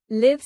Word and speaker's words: live: Live like give for residing. Live like five for real time performance and life.